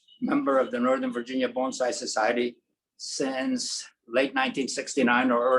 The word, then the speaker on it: bonsai: It's bonsai, not bonsai, and not bonsai. It's a bon like bon voyage, or bon appetit, or bonne nuit, or bonjour, or for you who are kitchen workers, mon ami.